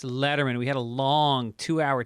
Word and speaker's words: Lederman: My guest is Annie Lederman today, not Lederman. Everybody says her name wrong. It's Lederman.